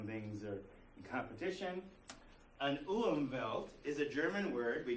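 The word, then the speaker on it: Umwelt: total experience erience an umelt is an organism's world view based on its ecological niche so it's not enough the W is W in German the W is pronounced like a V just like Hawai Havi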